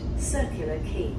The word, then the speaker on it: Circular Quay: This train will stop at Circular Quay. Circular Quay.